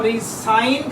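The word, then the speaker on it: re-sign: दोबारा सुनिए, ये वर्ड रिज़ाइन यानी इस्तीफ़ा और ये वर्ड रीसाइन यानी दोबारा दस्तखत, इन दोनों के स्पेलिंग सेम है, लेकिन साउंड प्रोनंसिएशन, साउंड प्रोडक्शन और इनके मीनिंग में फ़र्क है।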